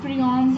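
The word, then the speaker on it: prions: आपकी बुक में इस टॉपिक के साथ एक साइड पैच है, उसमें लिखा हुआ है प्रियॉन्स या प्रायॉन्स, डिफरेंट लोग डिफरेंट तरह से इसको प्रोनाउंस करते हैं।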